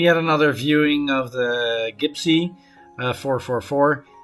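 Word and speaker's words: Gib'Sea: we left we had another viewing of the gibsy 444 it's pronounced gibsy it's not gib nc what i said all the time before but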